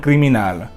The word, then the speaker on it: criminal: Another rule to remember is that if a word ends with an L or an R, the stress will always be on the last syllable, no matter what, and there will be no accent.